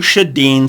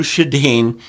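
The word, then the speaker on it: Sjodin: frequently it's the Drew shadeen site now you'll never remember and you'll never spell that right Drew shadane it's it's d-r-u Drew and shadin is s-j-o-d-i-n you'll never remember that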